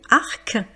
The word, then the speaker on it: arc: Arc puisqu'on prononce bien le C.